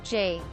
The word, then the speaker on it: J. A.: and his initials are Jay a quote he pronounces his name as Jay he is 6 feet